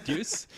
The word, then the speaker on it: Deuce: Big Deuce or Big Juice? I couldn't tell with your Aussie accent. Big Deuce? Am I mispronouncing it? Yeah, Deuce. I thought I heard Deuce. I was like, that's a new one. It's a dialect thing, clearly.